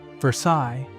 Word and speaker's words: Versailles: Number two, Versailles, and no, it's not pronounced like the palace in France. Locals say it ver-SAYLZ, and getting that wrong at the diner is basically a rite of passage.